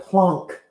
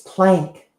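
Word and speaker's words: Planck: Why are you pronouncing that plunk? It's plank.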